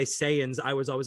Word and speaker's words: Saiyans: I thought it was Scion Z. No, No, it's not. oh fuck, And anyone man. who watches Dragon Ball Z, it's Saiyans, but normal people or